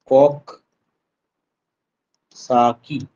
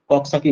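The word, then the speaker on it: Coxsackie: যায় এটাকে বলা হয় কক্কসাকি ভাইরাস ঠিক আছে উচ্চারণটা এভাবে হবে মনে রাখতে হবে কক সাকি কক্কসাকি ভাইরাস তাহলে এখানে হবে কক্কসাকি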